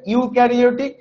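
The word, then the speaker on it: eukaryotic: আচ্ছা, প্রোক্যারিওটিক sell আর ইউক্যারিওটিক sell, হ্যাঁ, এটার উচ্চারণটা হবে ইউক্যারিওটিক আর এইটার উচ্চারণটা হবে প্রোক্যারিওটিক সেল।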